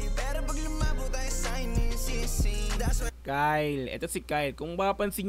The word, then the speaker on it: Kxle: isa sa kanta ni Kyle so ang basa ko dito kxle KL ginanon ko pa nga ang sabi saakin ng isa Kyle daw ang pagpronounce diyan so Kyle shoutout SAO Ayan